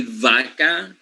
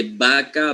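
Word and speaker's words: vaca: pronunciation we don't say vaka okay we don't say ver we simply use the b as in buo right so you say baka bur we don't make any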